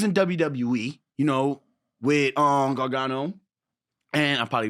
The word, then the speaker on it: Gargano: again, you was in WWE, you know, with Gargano and I probably butchered his name. He said it right. Gargano.